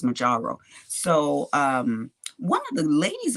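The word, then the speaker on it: Mounjaro: And Majaro, that's how you say it. It's Majaro.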